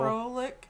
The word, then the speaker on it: Froelich: And if you know how to pronounce the name, it's Froelick.